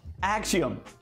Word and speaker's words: Axiom: behold pride just dropped axiom and think I'm saying it right it's ax IOM and it's a dynamic